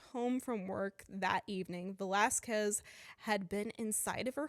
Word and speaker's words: Velasquez: Valsquez? Okay. Okay. Velasquez. Um, I'm like, Velasquez. I had it Yeah.